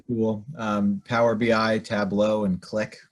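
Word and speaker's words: Qlik: um powerbi Tableau and click which I think is spelled Q or qli k um are all really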